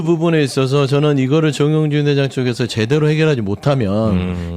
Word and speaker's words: 정용진: 주 정영진 아니고 정용진 발음 좀 제발 좀 조심 좀 회장 되니까 좋잖아요.